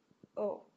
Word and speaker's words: au: would be o and that is pronounced just like the letter o l m n o